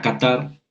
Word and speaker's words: Qatar: en la última fila la palabra qatar no hay acento autobiográfico pero la sílaba tónica es la última tarde y café no